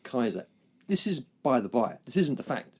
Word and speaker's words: Caesar: Caesar which is pronounced Kaiser did you know sorry Julius Caesar Caesar is not pronounced Caesar it's pronounced Kaiser the professor said it